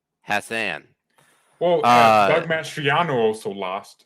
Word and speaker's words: Hassan: There's also it's pronounced how Jay would say ass. Hassan.